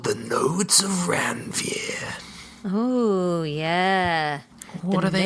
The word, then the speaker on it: Ranvier: They're called the nodes of ranvier. Oh, yeah. What are they nodes for? of ranvier. How would you pronounce that?